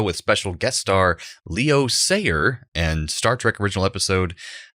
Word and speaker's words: Sayer: special guest star leo sayer and star trek original episode patterns of force i don't know if it's pronounced sayer but then immediately scooter just knocks it out there and says say here so there we go